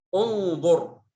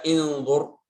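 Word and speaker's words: انظر: Kemudian huruf yang ketiga, yang kalimat yang terakhir, unzur. Mungkin kita baca inzur. Karena itu berkaitan dengan kata kerja atau fi'il.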